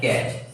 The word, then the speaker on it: catch: देखो जी क्या है, कैच, CATCH, सी एच। ठीक, तो ये क्या है, यहाँ पे ये साइलेंट होती है।